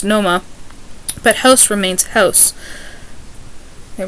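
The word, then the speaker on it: Nomar: R's are pronounced as H's, but it's not vice versa, so car is pronounced ka, just like Noma, ex-Red Sox shortstop is pronounced Noma, but house remains house.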